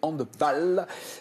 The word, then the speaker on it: handball: c'est un mot allemand et pas anglo-saxon. On dit football, mais handball.